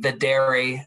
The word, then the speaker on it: Videri: It's V as in Victor, E, D as in David, E-R-E, Videri Bio.